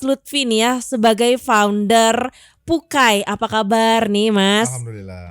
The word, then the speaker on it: Puckai: Tadi di awal kita sempat nanya dulu, ini bacanya apa sih Kang, Pukai atau Pakai? Sebenarnya Pukai ya. Pukai. Walaupun maksudnya ke pakai.